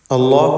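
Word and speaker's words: الله: ഇപ്രകാരം ലാമിന് മുമ്പിൽ ളമ്മോ അല്ലെങ്കിൽ ഫത്ഹോ വരുമ്പോഴൊക്കെയും ലാമിന് തഫ്ഖീം കൊടുക്കുക, അള്ളാഹ് എന്ന ശബ്ദം നൽകുക.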